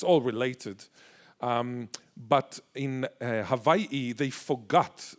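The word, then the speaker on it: Hawaiʻi: But in Hawaii, they forgot, the missionaries forgot the okina, which is the glottal stop. The glottal stop, which is pronounced they forgot it. So this is why we say Hawaii rather than Hawaii. There is a glottal stop in the middle.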